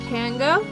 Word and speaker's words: Pango: What was it pronounced? Pango? Yep, Pango.